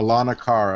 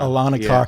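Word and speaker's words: Aulonocara: How do you pronounce that name, Ron? Alanakara? I can't. Alanakara. Alanakara.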